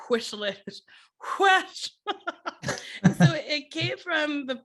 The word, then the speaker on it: Wes: Because it's not Wes, according to No, your it's pronunciation. you have to like whistle it. Whoosh.